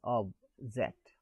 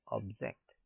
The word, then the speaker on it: object: So in sentence A, object is a noun and is pronounced as object. The stress falls on object. In sentence B, object is a verb and is pronounced as object.